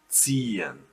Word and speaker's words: ziehen: Again, ziehen. Here you see there are both possibilities in one word, so it's extra long, and you have to at least pronounce the H a little bit here, just like you did with sehen. So ziehen.